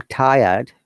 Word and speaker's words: tired: If you remember, once again, I'm repeating, in British English, in most of the cases, we don't pronounce the R at all. Rather, we bring a vowel sound in that case. So if I'm tired, look at this sentence.